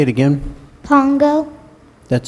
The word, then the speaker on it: Pongo: you pronounce it again Pongo Pongo and I'm pronouncing it right say it again Pongo that sounds correct p o n g o